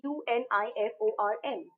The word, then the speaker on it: uniform: um n before it why because the pronunciation is that of yo it is y yeah right it's european or it